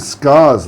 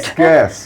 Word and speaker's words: scarce: Sorry, I thought you said scars, like scars, no, like. I'm sorry if I mispronounced it. Scarce, yes.